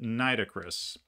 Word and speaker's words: Nitocris: her historical name is nitocris or nris however you want to pronounce that niit o c i i pronounce it nitocris and uh she was